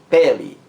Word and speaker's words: pele: Por exemplo, eu tenho a palavra pele, pele, pele. A sílaba mais forte é a primeira sílaba.